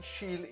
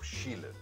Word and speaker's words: Schiele: I have said Mucha instead of Mucha, Van Gogh instead of Van Gogh, and Schiele instead of Schiele.